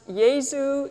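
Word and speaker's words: Jesu: sing number 367 and it's pronounced Yazoo Yazoo fill us with your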